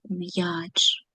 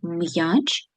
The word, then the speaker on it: м'яч: М. Звук ми з вами вимовляємо твердо. Я стоїть поруч і буде означати після апострофа два звуки: м'який приголосний й та голосний а. Ч завжди твердий. Давайте подивимося після букви після букви М апостроф. Тому м у нас не може бути м'яким. Ми вимовляємо в слові м'яч звуки твердо та чітко.